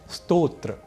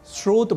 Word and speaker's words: स्तोत्र: यहाँ स्तोत्र को सामान्य रूप से श्रोत बोलना अथवा लिखना अशुद्ध है, क्योंकि स्तोत्र और श्रोत ये दोनों ही शब्द अलग अलग अर्थों को बताते हैं।